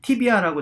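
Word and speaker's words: tibia: 자, 경골은 보통 티비아라고 저희가 많이 발음을 합니다.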